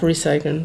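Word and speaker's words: recyceln: ein U Ton ist das stimmt nicht wir sagen auch recyclen recy recycle recy oder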